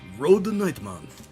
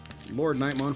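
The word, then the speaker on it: LordKnightmon: Or as the Japanese pronounce it, Road Nightmon. Which I thought it was Road Nightmon at first. Nope, it's Lord. Lord Nightmon for sure.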